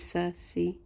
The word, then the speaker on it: Cersei: Oh wait, pronounced like Sir, like a knight, and sea, like the ocean. Oh, so it is Cersei.